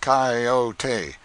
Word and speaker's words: coyote: If I remember rightly, this latter was the regular coyote, pronounced coyote, of the farther deserts.